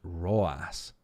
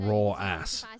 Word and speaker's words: RW9: League we have have rw9 pronounced rawas rawas I I guess it's not raw ass that would be weird raww and why is